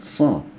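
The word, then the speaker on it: ص: Yang ini so, ini do. Ya. Sekali lagi, so, do. Ya. Lebih padat ya ketika pengucapan. So, ya, do.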